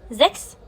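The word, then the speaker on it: sechs: تاني حاجة هنا اتنطقت كاف. ليه اتنطقت كاف؟ تنطق كاف لما يجي بعدها حرف الاس، واي حاجه غير كده بتتنطق شين.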